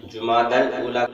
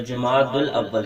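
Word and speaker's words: جمادى الأولى: کا 5واں مہینہ ہے۔ اس مہینے کے نام کا صحیح تلفظ وہ جمادی الاولیٰ ہے۔ بعض لوگ اس کا تلفظ جمادی الاول کرتے ہیں یا جماد الاول کرتے ہیں، تو یہ دونوں ہی درست نہیں ہیں قواعد کی وجہ سے۔ بہرحال تو اس مہینے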